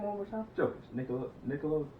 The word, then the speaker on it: Jokic: Jokic. Nikola Jokic, right? It's Jokic. It's Jokic? Yes. Oh, it's because we call him Joker. It's because we call him the Joker. That's why I do that. Yeah. Jokic, my bad.